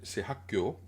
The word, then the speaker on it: 학교: Juste un point, c'est Hakkyo, Hakkyo, Hakkyo. Donc elle fait kyo au lieu, au lieu de kyo. Donc kyo, pas kyo. Hakkyo.